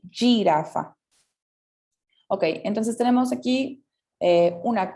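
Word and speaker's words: giraffa: La jirafa, sí, tiene una escritura muy similar al español, pero en el italiano va a tener como una pronunciación como G, ¿sí? Girafa.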